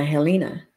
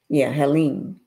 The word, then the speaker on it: Helene: They was hit by Helena. Helene. I keep pronouncing it wrong, but it was hit by Helene.